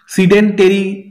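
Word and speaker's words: sedentary: Next হচ্ছে দেখো সিডেন্টারি, ঠিক আছে? উচ্চারণটাই আমাদের এটা করতে হবে। এখানে দিয়েছে সিডেন্ট্রি, সিডেন্টেরি, সিডেন্টারি, সিডেন্টেরি উচ্চারণ দিয়েছে।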